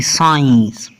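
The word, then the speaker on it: science: आगे है जी साइंस, एस सी आई ई एन सी ई साइंस, एस के बाद सी है यहाँ भी सी साइलेंट है।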